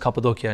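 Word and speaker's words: Kapadokya: It's pronounced Cappadocia in Turkish.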